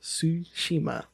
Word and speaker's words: Tsushima: No, it's spelled B-A-N. It doesn't matter. Ghost of Tsushima.